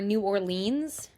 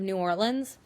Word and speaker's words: New Orleans: But it I feel also like it bothers me definitely when people say Nolans or New Orleans instead of New Orleans. The city is New Orleans, but the parish instead of counties is Orleans Parish.